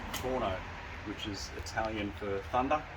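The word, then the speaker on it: Tuono: uh Toronto which is spelled t-u-o-n-o let's actually pronounced torno which is Italian for thunder now I've owned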